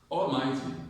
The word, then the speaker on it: almighty: Almighty. Almighty. When you say almighty, you're stressing all. Almighty. Almighty. Almighty. But the correct stress pattern goes like this.